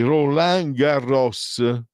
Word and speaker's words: Roland Garros: Poi Roland Garros, bisogna pronunciarlo la os, me l'hanno insegnato. Roland, non perché in francese di solito la S finale non si sente, invece Roland Garros si deve sentire.